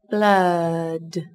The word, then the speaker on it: blood: Các bạn lưu ý từ này có chứa nguyên âm A ngắn. Chúng ta sẽ đọc là A. Từ này đồng thời cũng sẽ có chứa âm cuối D. Chúng ta bật rõ ràng, dứt khoát, rung cuống họng để phân biệt với âm T.